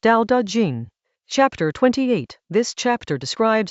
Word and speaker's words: Dao De Jing: The Dao De Jing, pronounced Dao De Jing.